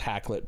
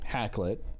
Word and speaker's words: Hakluyt: and what he's saying hacklet or hack loot as i guess it's pronounced is that you know